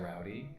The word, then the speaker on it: Roldy: My name is Roldy, spelled Roldy, but it's always pronounced like rowdy, like let's get a little bit rowdy, so I've always heard it that way, which I like better.